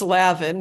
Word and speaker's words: Levine: It's Lavin, Midwestern pronunciation.